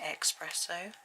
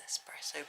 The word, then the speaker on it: espresso: I always used to say espresso. It's very wrong, apparently. Frowned upon, because it's not how you say it. Yes, espresso brown.